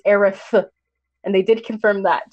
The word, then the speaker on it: Aerith: Okay, to be fair though, to be fair to Kingdom Hearts, it did confirm Aerith versus Aerith. It's Aerith.